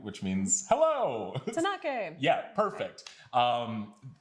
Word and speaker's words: Tαnakɛ: It's a little bit different for English speakers because we use a lot of what's called diphthongs in English. So we would tend to say like Tnakɛ at the end, that kind of sound, but it's just Tnakɛ.